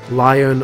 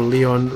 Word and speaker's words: Lion: Because his light is spelt Lion, but because he's French, I'm assuming it's Leon, just spelt wrong.